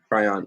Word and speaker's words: Kryon: to kryon and again I hope I'm pronouncing it correct cry on you got it yep cry on awesome the this attraction